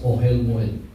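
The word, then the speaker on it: אֹהֶל מוֹעֵד: language is it it is uh uh pronounced as ohelmil. It's o e l m o e d. Okay. Oh moed moed it means uh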